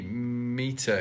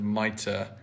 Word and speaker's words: mitre: way through this video i say meter instead of mitre sorry about that i don't know much about diy this is all quite new for me but it's i mean to say mitre the finish will be